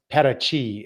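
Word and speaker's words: Paraty: spelled p a r a TY but it's pronounced Pachi and it's an old Coastal uh community and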